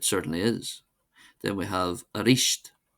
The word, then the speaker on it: arís: Then we have arish arish meaning again.